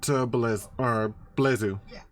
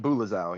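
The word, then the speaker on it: bulezau: Next is the second Blezu. Blazal? Demon. Boozula? Bulazao. It is pronounced Bulazao, yep.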